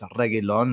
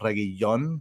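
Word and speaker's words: Reguilón: one one lse it's regon not regon that and even on TV I'm listening to it and that for some reason they're not pronouncing the L I'm sorry these things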